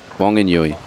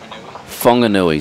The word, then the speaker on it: Whanganui: Wanganui. Whanganui, sorry. Whanganui, I'm just getting the correct is pronunciation.